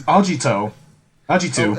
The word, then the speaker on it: Agito: talking about caiman raider aggieter no you said it wrong it's ajito how'd you two it's